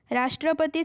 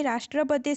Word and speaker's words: राष्ट्रपति: राष्ट्रपति शब्द का उच्चारण करते समय रा पर बल पड़ता है।